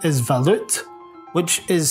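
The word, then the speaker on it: Waluth: The actual German name is Valut, which is spelled W-A-L-U-T-H.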